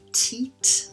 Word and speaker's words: teat: uh this is the teat of the bottle from which your baby will drink and so long e in the pronunciation there just be careful with that teat and of course then